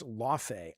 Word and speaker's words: Laufey: He says, "No, Jaffy, it's Laufey."